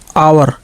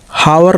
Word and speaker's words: hour: जैसे देखिए HOUR आवर, हावर नहीं बल्कि आवर, यच को छोड़कर बाकी OUR का ही उच्चारण हुआ।